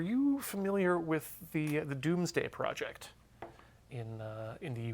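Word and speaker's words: Domesday: but said uh or pronounced doomsday but written Do's day and uh it's uh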